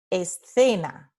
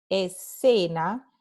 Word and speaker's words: escena: La letra C se pronuncia S, escena. Pero en el norte y el centro de España, esta palabra se pronuncia de una manera diferente. Se pronuncia escena, escena. Again, that TH sound from the verb through, th, escena, ¿no?